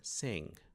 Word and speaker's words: sing: Então você tem 100, sem algumas variantes do inglês ah, apresenta o som de G, né, destacado, mas normalmente o G não é pronunciado em inglês nesses casos.